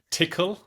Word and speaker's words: Tcl: ballerina Pharaoh prologue red tickle um which you might know is TCL but it's pronounced tickle and Unison and each